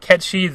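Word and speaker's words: Cait Sith: to be kept she I just always pronounced it Cates if ever since I was a kid I Paul we always call it that until we played the remake if it pronounced it cat cheese and I guess that's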